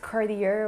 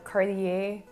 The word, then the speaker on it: Cartier: pronounce the name and that is cartier or cartier in french the t sound is more so would be and the a again like a bit in chanel it's more ah so you would pronounce it now the next one